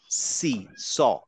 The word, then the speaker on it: س: যদি সিনটাকে এভাবে বলি আমি বলবো হচ্ছে সি স দেখেন সি যখন আমি বলছি আমার জীভের সাথে দাঁত লাগে না সি একটা বাতাস বের হয়ে যায় দাঁতেও লাগে না জীবটা ঠোঁটেও লাগে না কোথাও লাগে না শুধু বলি সি এবং বাতাসটা ঠিক আমার